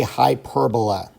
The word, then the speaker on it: hyperbola: The type of graph is called a hyperbola. Hyperbola is how you pronounce it.